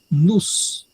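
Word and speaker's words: νοῦς: A palavra que está sendo traduzida aí é ho nous. Essa terceira palavra, N Omicron Y sigma, a pronúncia é nous.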